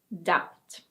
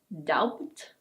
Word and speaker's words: doubt: And now we have: doubt. It's not "douBt". It's: doubt.